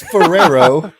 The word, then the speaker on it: Ferrero: ferero why are you you're adding like seven RS to it it's Ferrero Ferrero shade there's seven